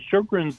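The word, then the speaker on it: Sjögren's: So Shogrin's disease was initially described by a doctor in Sweden, Dr. Shogrin and that's why it's spelled s j o g r ns.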